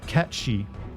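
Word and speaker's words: Cait Sith: game come out because it's supposedly it's pronounced caty but I think that's stupid and I've always pronounce it as Kate Sith I I don't know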